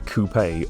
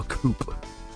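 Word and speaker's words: coupé: You I suppose you could describe it as a coupe. or a fastback saloon. If you're an American, you'd probably call that a coupe or more incorrectly, a coupe.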